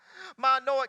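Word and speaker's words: מָנוֹחַ: be well with you Security in the Hebrew is pronounced ma an Noak ma Noak and it means watch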